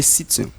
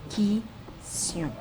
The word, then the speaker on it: Kition: C'est Zénon de Citium. Citium. Zénon de Citium. Citium. Oh non. Zénon de Citium. Mauvaise réponse. Mauvaise réponse, c'est Zénon de Kition. Qui? Kition. C'est Kition. Kition. Il faut prononcer bien.